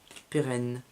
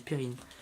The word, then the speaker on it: pérenne: Ah, j'avais dit périne. Championne de l'aube pérenne. Tu vois que la prononciation ça change selon les personnes. Ouais, c'est vrai. Genre tu dis pérenne et il y en a qui disent périne.